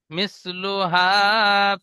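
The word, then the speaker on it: مثلها: তারপরে মিসলুহা ফিল বিলাদ, প্রথমে বানান করেন। মিম সিনজের মিস। মিম সিন লাম নয়, সা। মি মি- সাওটা।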